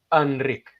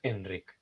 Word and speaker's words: Enric: Entonces, en catalán tenemos lo que se llama la vocal neutra, que es una es algo que está entre medias, entre una a y una e. Entonces se pronuncia enric Pero no pasa nada si lo pronuncias Enric.